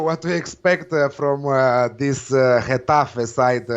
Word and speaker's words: Getafe: Yeah, you don't know what to expect from this Getafe side, how number one likes to say, Getafe. This is how they pronounce it in La Liga.